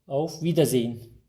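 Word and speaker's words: Auf Wiedersehen: az önce de gördük i ve e harfi yan yana geldiğinde uzun i gibi telaffuz ediyoruz e'yi duymayacağız yani ağzımızdan e vie şeklinde çıkmayacak vi iki tane i varmış gibi okuyalım bunu vida zeyin buradaki H harfini de çok fazla bastırmadan yani zey hın diye zorlamayalım Buna gerek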